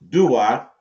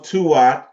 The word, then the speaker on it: Duat: Duat, pronounced Duat, also Tuat, Tuat, a Kurt, a Menthes, and a Menti.